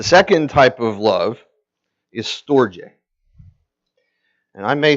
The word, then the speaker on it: storge: The second type of love is storge. And I may say these wrong, but I did look up the pronunciations.